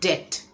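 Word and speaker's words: debt: ये डेप्थ नहीं है। यहाँ पे बी साइलेंट है, तो हम बोलेंगे डेट।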